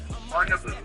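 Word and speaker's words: Bundibugyo: It's called bungaboo strain of the evil virus and that is correct pronunciation.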